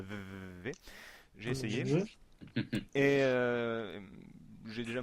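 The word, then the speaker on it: VVVVVV: reviendra plus tard, vous verrez qu'il s'agit de VVV, je l'ai bien prononcé Julien?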